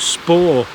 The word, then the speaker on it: Spa: you about a famous spa near here that people used to come to. And locally it's pronounced spa, s p a w.